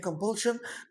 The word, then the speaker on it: compulsion: كلمة compulsion هنا السي اي او ان، المقطع الأخير ده حضرتك تكتب لي جنبه شن، علشان لما تيجي تنطقها بأمر الله تعالى تقول لي ايه compulsion. يعني ايه compulsion؟